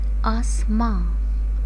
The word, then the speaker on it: آسماں: کی ادائیگی سیکھیں گے۔ ہمارا پہلا لفظ ہے آسماں، آسماں، الف مد آ، سین، آس، میم الف ماں، نون گنہ، آسماں، آسماں۔ ہمارا دوسرا لفظ ہے